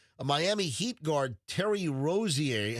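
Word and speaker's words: Rozier: Like this this Rosier, how do you say his name? Rosier.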